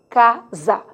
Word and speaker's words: casa: sapo mas sim dizer casa isso é uma outra discussão você verá que o s intervocálico tem som de z quer dizer emite o